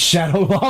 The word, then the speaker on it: Shadaloo: It's like when the trees It's Shadow Law, but whatever. Is it Shadow Law?